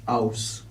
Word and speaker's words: Aws: been made aware that I mispronounced your name. Despite that fact, I'm famous for mispronouncing names. I'm very sorry. Yes, Aus. Aus.